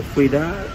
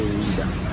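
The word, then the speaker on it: Ouidah: So Fuida is the name of the clan who worship pythons. And when the French came and they could not pronounce Fuida, they deformed it, they say Wida.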